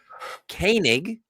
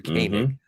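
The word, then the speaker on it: Koenig: Kanig is the last name of Walter. Walter Kanig.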